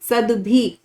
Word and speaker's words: सद्भि: सद्भि, तो जो लेटर आधा होगा वो पहले बोला जाएगा और जो नीचे लेटर है वो बाद में बोला जाएगा।